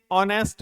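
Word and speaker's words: honest: इस का यूज करेंगे इसी तरीके से ऑनेस्ट मैन ऑनेस्ट मैन एन का यूज करेंगे हालांकि एच से प्रारंभ हो रहा है ए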